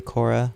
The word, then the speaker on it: Guaycura: what you think by Korra which is pronounced with the silent G is a real name